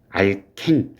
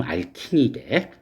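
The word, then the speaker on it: alkene: 그리고 여기 있는 이중결합 CC 칼본 알켄 뭐 영어 발음은 알킨이래. 알켄, 우리는 알켄이라는 표현, 그러니까 이중결합을 이렇게 얘기하잖아. 이걸 우리는 그냥 흔히 알켄이라고 발음을 하지만 미국에선 이걸 알킨으로 발음을 할 거야.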